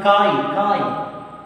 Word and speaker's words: chi: Chi. The pronunciation of susceptibility is chi.